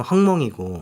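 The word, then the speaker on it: 鸿蒙: 근데 그 화웨이가 이제 미국의 제재를 받을 때 좀 전후로 해가지고 독자 OS인 중국 발음 헝몽이고 네.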